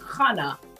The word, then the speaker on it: Khannah: But the website is Khannah Josué, Khannah, pronounced Khannah.